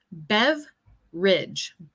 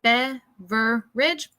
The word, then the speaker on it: beverage: Bueno, yo pronuncié esa palabra si fuera como solo 2 sílabas. Beverage, beverage. Otras personas como se extiende como esa palabra a 3 sílabas, beverage. Entonces, ambas formas de pronunciar esta palabra están como bien.